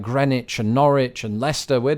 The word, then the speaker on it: Greenwich: that it should be Greenwich and Norwich now over this idea where we drop the W in words of this ilk there's no consistency across